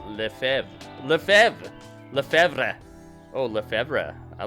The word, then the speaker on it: Lefebvre: Okay, in French, the B is generally silent. The name is pronounced roughly as Lefebvre.